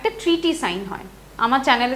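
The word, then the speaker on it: Sèvres: हो बनन हम देख सेस ठीक ट्रीटी ऑफ सेस किंतु सॉरी हम ख एस साइलेंट थाके तो कारण इ नोन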